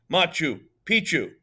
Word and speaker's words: Machu Picchu: one machu picchu and i said something like makuu bad moose she says machu picchu i thought she was nuts until my mom informed me that that is actually how it's pronounced machu picchu my mother went straight